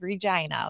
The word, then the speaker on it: Regina: so I am from Regina Saskatchewan Canada oh man and I said it right I said it looks like Regina everybody's like yes Regina no it's not it's called Regina okay the slogan is the